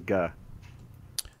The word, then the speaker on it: Guh: I think it's Guh, but let me verify. Guh. What kind of name is Guh? That would be a... Spell that.